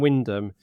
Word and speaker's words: Wymondham: It's W-Y-M-O-N-D-H-A-M. So phonetically, it would be Wymondham, but it's Wyndham.